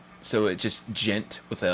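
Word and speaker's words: djent: metal oh I see the D is silent so it just gent with a like a oh and clutch says it right there gent so with a J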